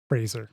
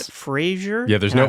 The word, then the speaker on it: Fraser: to call out here it's Brendan Fraser Fraser not Frasier's I will still say it wrong yeah but that's something that everybody says wrong I don't know how